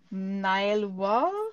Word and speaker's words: Nailwal: great opportunity everyone to listen to Mr Sandeep Nile wall how do you say your last names yeah